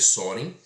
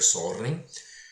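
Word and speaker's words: Søren: Soren, né, que vocês vão ler Soren, mas se pronuncia sorren.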